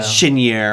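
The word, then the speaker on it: Cheniere: categories of energy whereas i can't even pronounce chinere right is it chinere shinier yeah shinier right i'm calling the sea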